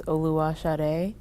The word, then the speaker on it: Oluwasade: My first name is Oluwasade, and it's spelled Oluwasade, but I go by Sade.